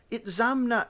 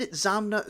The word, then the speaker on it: Itzamna: This does not explain the last syllable na, which is always strongly accented. It is said that Itzamna spoke of himself only